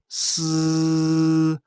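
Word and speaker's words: 呬: The pronunciation of s, a hissing sound.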